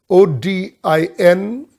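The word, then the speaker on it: ὠδίν: O-D-I-N, it's pronounced odin, and it means birth pangs.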